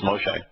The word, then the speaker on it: Moshe: they they did say his name right as Moshe uh but they never did bother to explain